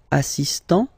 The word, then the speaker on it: assistant: Il est assistant. So don't pronounce the final T here, but for the feminine form, elle est assistante.